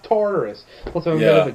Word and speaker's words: Tartarus: broke out of Tartarus it's Taurus I played God of War I know it's pronounced Tartarus also a bit of